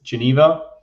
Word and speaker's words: Geneva: pronounce it in so in english it's geneva uh french it's uh jeunev and we in german because i'm in the german speaking part in near zurich yeah and we just say genth so it's different ways